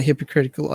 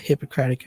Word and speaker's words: Hippocratic: And yeah, once again, compromise my hypocritical oath. By the way, that's an intentional mispronunciation. I do know that it's called the Hippocratic Oath.